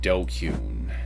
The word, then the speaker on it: DQN: able to no there it is thank you dokun that was the ultimate goal I shot for